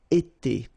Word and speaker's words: été: itself every time, and it's pronounced like été, été. All right.